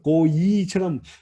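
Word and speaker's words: גוי: 발음은요, 물론 이제 우리말, 영어도 마찬가지인데 발음을 고이처럼 발음을 할 수밖에 없지만 사실은 이건 이름절이에요. 이거 우리 한국 사람들은 발음하기가 좀 어렵기는 한데 고이라고 하는 두음절은 아니에요. 고이예요. 고이. 그러니까 이름절로 발음하셔야 됩니다.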